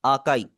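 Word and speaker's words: 赤い: इसकी आवाज आ है। इन्होंने आगे एक्सप्लेन किया हुआ है। जैसे फादर के अंदर आ की आवाज आ रही है। बिल्कुल इसी तरह आपने इसे प्रोनाउंस करना है।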